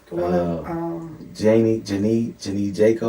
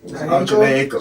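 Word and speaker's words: Jhené Aiko: I always get her name wrong. Bruh from Detroit lady. They just had a baby, light skin. Janie Jaco or Jaco. Janae Aiko.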